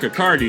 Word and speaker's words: Accardi: And we got super nerd Accardi. Did I pronounce Yeah, just like Bacardi.